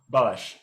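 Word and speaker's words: Balázs: So for example, do I pronounce Balash or Balaz?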